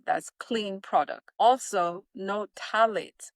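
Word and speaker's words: phthalates: I'm going to spell this word because it sounds different than how it is spelled. So, tallet is spelled P H T H A L A T E S. That's talics.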